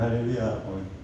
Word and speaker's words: 할렐루야: 네, 할렐루야가 아니고 할렐루야입니다. 이게 원래 이게 찬양하다 야훼 하는 말 할렐루인데, 이게 그리스 말로 번역하면서 그리스에는 이게 발음이 있는 알렐루야로 됐어요. 또 더더군다나 한국에는 이렇게 그리스도로 천주교에 들어오면서 프랑스 선교사들이 들어오면서 프랑스는 히읗 발음을 못합니다. 그래서 히읗 발음하면 바람 소리를 내요. 그래서 그 공주 하잖아요. 우리 이런 소리를 못해요.